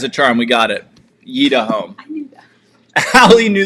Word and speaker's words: Yitahom: I just want to check in Oh, it's spelled Yeda Home. All right, third try's a charm, we got it. Yeda Home.